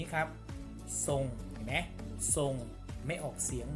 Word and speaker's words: ทรง: ไง ความ รู้ การ เช่น คำ นี้ ครับ ทรง แนะ ส่ง ไม่ ออก เสียง ร เรือ แต่